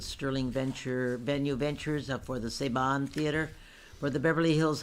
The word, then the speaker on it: Saban: are having it at the, how is it pronounced, Rebecca? Saban.